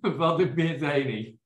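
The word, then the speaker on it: Valdobbiadene: Valdobbiadini. Yay! Well done. Italy's easy. You just pronounce every letter that you can say. Oh, there's Conegliano. I just found it. Yes. Valdobbiadini, Conegliano.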